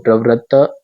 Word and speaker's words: प्रवृत्त: है बड़ा त है त के ऊपर जोर देना पड़ेगा या आधा त को प्रवत्त प्रवृत्त तो ये आधा त का उच्चारण इधर हो गया प्रवृत्त और ये तिक